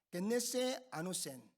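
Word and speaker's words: γεννηθῇ ἄνωθεν: 겟네세 아노센. 발음하기가 쉽지 않죠?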